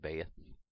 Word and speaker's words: Beth: Looks like Beth, it's pronounced Baeth.